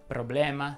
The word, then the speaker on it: problema: Le parole che terminano in ema richiedono la pronuncia aperta. Ecco qualche esempio. Si dice tema, problema, sistema, anatema, schema, suprema e così via.